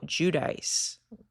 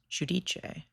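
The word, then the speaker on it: Giudice: Joe Judice, which is an insane pronunciation of that name. He's actually from Italy. I don't know why he says Judice. It should be pronounced Judiche.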